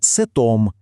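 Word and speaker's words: cet: Але якщо слово чоловічого роду починається з голосної, як от ом, то щоб не було незручно вимовляти, французи додають літеру т. І виходить милозвучне сетом. З жіночим родом все ще простіше, завжди сет.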